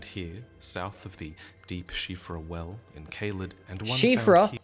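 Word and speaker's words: Siofra: south of the Deep shifra Well in kalid and one actually say CRA it's actually pronounced shifra the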